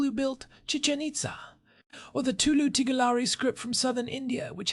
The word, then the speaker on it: Tulu Tigalari: of the people who built Chichanita or the Tulu Tigalari script from southern India which has this beautiful intricate structure. By the way, I practiced that pronunciation. Tulu tigar alri.